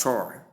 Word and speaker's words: sure: The word sure spelled as s u r e. We have shore and shore. Sure. She sound and long o sound pronounced as shore. Then the second part she sound and the uh sound to give sure. Number seven we have close or you say close.